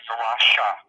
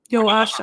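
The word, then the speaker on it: Joasia: And Well, her formal name was Joanna Gajewska, but nobody called her by her formal name. She was always Joasha. Joasha.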